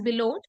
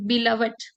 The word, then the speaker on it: beloved: uh negatives also like someone use uh someone pronounced the term b l o v e d as below something like below but it is beloved and uh secondly uh someone spoke messy hairs